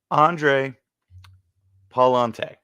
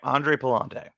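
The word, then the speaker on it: Andre Pallante: this I have to actually go for the pronunciation on him it's actually pretty sad for me but Andre Palante all right Andre Palante okay Andre has an interesting one here so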